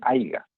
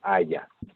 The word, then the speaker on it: haya: No se dice haiga. Lo correcto es, a ver, ayúdame. ¿Allá? Claro, haya. Igualito, con H y con Y.